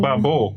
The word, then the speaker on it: Barbour: Bubble. No, Babel.